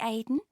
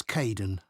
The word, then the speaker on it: Kaeden: Hi, Aidan. It's Caden.